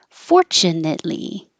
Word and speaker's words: fortunately: tea comfortable and uncomfortable fortunately it you a tin and then it but don't say the T fortunately taboo taboo arbiter